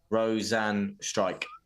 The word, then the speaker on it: Rozenstruik: sure it it's pronounced rosan strike not too sure though why he announced it that way Roan strike so it's so even though it's spelled struck it's pronounced strike yeah H interesting that's